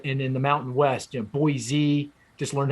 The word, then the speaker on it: Boise: and Atlanta, Charlotte, and in the Mountain West, Boise, just learned how to pronounce Boise down to Phoenix.